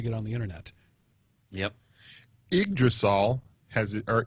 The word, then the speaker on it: Yggdrasil: their system to get on the internet yep egg drasol has our igdrasil as it is pronounced is the world tree norse mythology and